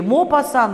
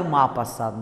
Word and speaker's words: Мопассан: Мопассан может быть и Мопассан, и Мапассан, да?